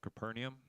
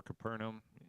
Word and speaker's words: Capernaum: And this section is set in the city of Capernaum, or Capernaum. It's pronounced both ways.